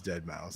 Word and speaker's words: Deadmau5: that what they're called did mouth no it's dead mouse but it's spelled with the mau5 yeah i don't know